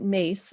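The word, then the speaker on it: Myss: with carolyn mace no you pronounce it mace but it's spelled m-y-s-s so she teaches uh spiritual anatomy she's one of my teachers karen caroline carol carolyn mace that's how you say it mace but it's spelled m-y-s-s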